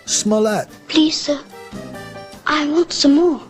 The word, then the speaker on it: Smollett: jesse smellet story i just learned how to pronounce his name smollett lisa i want some more it's not that